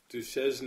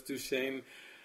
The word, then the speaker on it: Duchesne: come and visit Duchesne, it kind of looks like Duchesne if you try to pronounce it phonetically, but it's Duchesne, and it's like an old Wild West town.